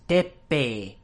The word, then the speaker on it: Teppei: So, you have the EI at the end, which represents a long E sound, so that's an E that gets two beats. And that's something that you've seen before. But the two P's, so Japanese distinguishes between long and short vowels, but it also